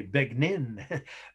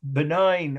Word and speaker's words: benign: what does that say it again kind yes benign or as my aunt in indiana used to say beg nin b-e-g-n-i right benign or enlightened despot yes he was a i